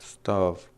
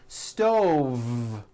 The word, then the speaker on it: stove: on a hot stove was that correct stuff no I should have said stove stove I cooked dinner on a hot stove with a voice V next word five five